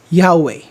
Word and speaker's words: Yahweh: tetragrammaton yhwh most scholars agree that this is pronounced as yahweh which means the eternal one yahweh is the